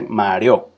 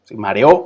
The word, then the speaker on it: mareo: hice caer sino caer mareo mareo que no nos dice mario mareo es otra palabra pero el mareo mareo son tres sílabas y río como el